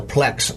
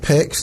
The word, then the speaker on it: PEX: little bit of time, the PLEX water piping. It's actually pronounced PEX.